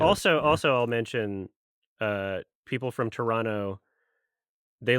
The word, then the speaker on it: Toronto: Also, I'll mention people from Toronto, they like it pronounced Toronto as if you don't say the second T. Oh, Toronto.